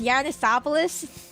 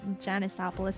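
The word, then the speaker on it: Janusopolis: always Yanisopolis? I've been pronouncing it Janisopolis in my head.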